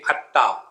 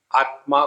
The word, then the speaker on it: आत्मा: हमारे बंगाली बंधु जोड़ाक्षर का उच्चारण नहीं कर सकते, तो वो कहेंगे अत्ता, आत्मा को अत्ता कहेंगे।